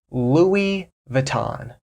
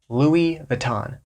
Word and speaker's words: Louis Vuitton: it's Louie vuon so that's how an American normally pronounces this Louie Vuitton Louie Vuitton but the correct pronunciation